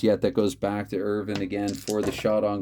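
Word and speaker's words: Irvine: 411 that goes to ted irvin according to chris jericho that is how it is pronounced chris jericho remind you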